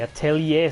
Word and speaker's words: Atelier: The Atelier series. It is pronounced Atelier. I used to pronounce it Atelier. Like Atelier. Atelier. No, it's Atelier.